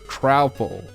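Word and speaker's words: Troupple King: Half trout and half apple, pronounced like mouthful. Oh, trowful. It's a trowful, okay.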